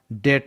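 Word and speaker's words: debt: पर भी साइलेंट होता तो इसका करेक्ट उच्चारण डेट होता है डाउट गैस इंग्लिश में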